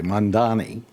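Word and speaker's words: Mamdani: Zoran I'm going to pronounce it correctly, Mondani, is going to be elected mayor of New York.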